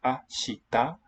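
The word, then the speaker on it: 明日: So ashita is a Japanese word for tomorrow. It's not, you can hear it's 3, so ashita. So 3 beats, 3 syllables.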